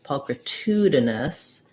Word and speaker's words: pulchritudinous: of think about um pulchritudinous that'll change the stress to the here before the two um so then that